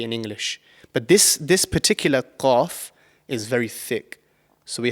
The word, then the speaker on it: ق: So the letter qaf is actually pronounced from the farthest part of your mouth. So right at the back of your mouth, just before the throat.